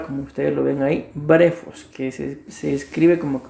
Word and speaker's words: brephos: es la palabra como ustedes lo ven ahí brejos que se escribe como que fuera brepos pero se pronuncia breos y significa Infante como ustedes lo ven en